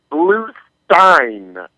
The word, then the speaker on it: Bluestein: The name is Bluestein. And he was specific to tell me it was Steen.